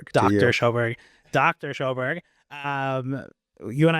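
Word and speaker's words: Sjöberg: Is that how you pronounce it? Yeah, it's Dr. Schoberg. Dr. Schoberg.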